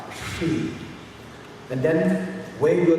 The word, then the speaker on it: Hri: For say At a Bodhicitta, the syllable is Shri, H-R-I, Shri.